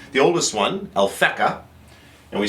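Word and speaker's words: Alphecca: call it by two names the oldest one alfeka and we spell that one a l p h e c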